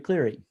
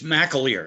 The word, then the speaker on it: McAleer: So going across from him would be Representative McCleary. You're still on, right? Oh, there you go. I see you, but you got there. You go. It's McAleer. It's pronounced as if it's MAC, but Okay.